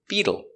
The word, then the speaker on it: Beetle: Pronunciation. Beetle. B. E. B. We change the t to a d sound between vowels. So it's bead bead. U beetle. The dark L with a tongue in the back.